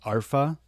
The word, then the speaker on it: Arpha: products from alpha or I believe believe it's pronounced ARA cuz there's no l in there are actually pretty